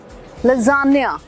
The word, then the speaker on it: lasagna: Italian word है, मगर इसको क्या बोलते हैं? लजानिया। अगली बार कॉन्फिडेंटली बोलना लजानिया खा के आया हूँ, या फिर वेटर को बोलना मेरे लिए लजानिया।